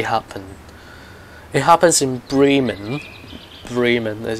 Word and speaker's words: Bremen: Bremen is how you pronounce it, and in this map, Berlin Spandau,